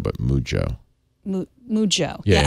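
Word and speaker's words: Mujjo: So, that's actually not Mujo, but Mujo. Mujo. Yeah, say the J twice.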